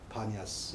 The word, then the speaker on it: 바니아스: 이 사람들도 피 발음을 못해서 그래서 판네온을 바네, 그래서 바니아스 이렇게 이름이 이제 바뀐 거죠.